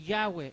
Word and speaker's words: Yahweh: En su libro Santifiquemos su nombre, admiten libremente en las páginas 16 y 18 que Yahweh es la mejor pronunciación del tetragramatón.